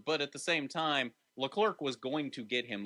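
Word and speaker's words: Leclerc: or not the next time you say the clerk your job title is going to be Clerk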